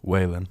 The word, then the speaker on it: Whalen: Is that how you pronounce it? Whalen. Whalen.